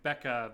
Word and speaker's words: Bkeha: She streams under the tag Becca, but spelled like BKEHA.